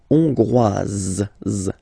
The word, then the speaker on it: Hongroise: Hongrois, Grois, Hongroise. Okay, so here, final S not pronounced for the masculine form, and then you pronounce it here for the feminine form.